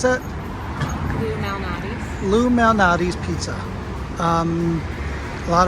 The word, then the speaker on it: Lou Malnati's: So we just Ubered to, how do you pronounce that? Lou Malnati's.